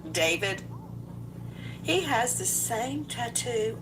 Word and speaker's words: D4VD: Some people look at his name and it looks it looks like D4 V and he pronounces it David.